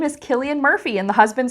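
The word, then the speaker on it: Cillian Murphy: know maybe you know the guy's name is pronounced Killian Murphy but your spouse keeps saying San Murphy and this is not just a random reference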